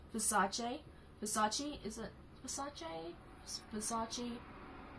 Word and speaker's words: Versace: Versace? Is it Versace? Versace? I used to call it Versace. used to call it like that, but it's really not.